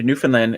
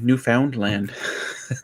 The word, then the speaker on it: Newfoundland: Yeah, you try going to Newfoundland and saying Newfoundland. They get upset. They get upset. It's not Newfoundland. Yeah, absolutely.